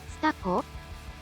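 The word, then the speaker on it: Tsutako: Su Taco is it here's how you pronounce his sister's name staco sounds like staco sto staco staco okay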